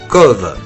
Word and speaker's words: Cobh: Eh bien non, on prononce Cove.